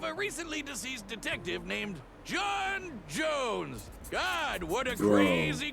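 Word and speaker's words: J'onn J'onzz: His real name is John Jones, which is basically pronounced John Jones.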